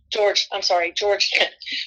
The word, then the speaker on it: Jorge: George. We call him Jorge, but his name is George.